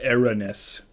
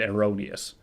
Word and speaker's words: erroneous: admitted no but seriously the computer said Aaron s and that Daniel synthesis we used said erroneous which i think is the correct way to pronounce it but no well